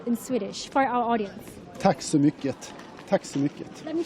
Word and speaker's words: Tack så mycket: Tack så mycket.